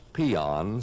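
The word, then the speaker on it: paean: In the dictionary, you will find a word pronounced peon spelled P A E A N.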